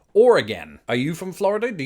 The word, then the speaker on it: Oregon: French probably not who said that his pronunciation was a homophone with the word organ which absolutely does not work with the British accent and this one's weird an inordinate number of people particularly in Florida insist on merging the two words or and again as in or again are you from Florida